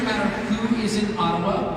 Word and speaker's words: Ottawa: who is is in Ottawa or as we say atawa which by the way is the correct pronunciation according to my friends